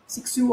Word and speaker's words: Cixous: সো a creature feminine, the term has first been coined by the French feminist and literary theorist Helen Sixou, Cixous, Sixou অনেকে pronounce করে, in her famous 1975 essay The Laugh of Medusa.